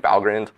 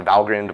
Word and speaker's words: Valgrind: you run it through valgrind um and what and it is pronounced valgrind by the way it's a reference to the gates to valhalla it doesn't mean val grind um so it's a